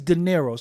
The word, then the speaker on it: D'Nairo: it and it and it reads daero so I knew that